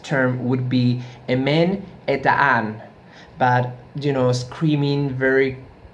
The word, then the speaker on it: Emen Hetan: they were in the Sabbath used to scream M le tan ma tan and if I mispronounce that as well I don't speak Basque